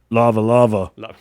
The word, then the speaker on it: lava lava: saying it wrong, Jay. It's actually pronounced lava lava.